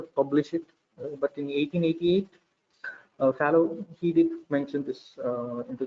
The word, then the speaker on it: Fallot: Okay, it is pronounced as Fallow.